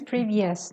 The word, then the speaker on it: previous: example the previous lecture previous sh is previous not VI yes previous usually Sharene oh you s o u s at the end of sentences uh excuse me uh noun words is pronounced s okay like previous previous monotonous go on okay uh